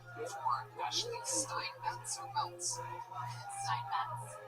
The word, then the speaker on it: Steinmetz: Steinmetz. With a T, you have to pronounce her T.